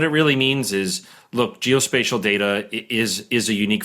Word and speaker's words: geospatial: you said it right geospatial is not GEOS special I know my business